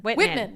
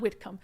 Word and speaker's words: Whitman: yeah whittam Whit Whitman Whitman not whitcom Whitman county I was like that doesn't sound right yeah yeah yeah uh